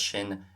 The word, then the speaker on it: sin: So keep it in mind if you hear son and so in Munster Irish, that's just shin and sho.